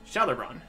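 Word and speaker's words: Gjalerbron: They call the place Jelleron, though you pronounce the G J as if it were a sh. So, Jelleron.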